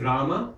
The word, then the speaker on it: Rama: With Rama, you have a similar situation. Rama. The first syllable has a long vowel to it. Ra.